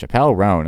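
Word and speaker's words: Chappell Roan: this YouTube video and they were like It's pronounced Chappelle Ron and so it's was like okay I'll run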